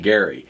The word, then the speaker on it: Gerry: It's named after a former Massachusetts governor named Gary. Oh, really? Is that right? I believe so, and I believe that was the correct pronunciation of his last name.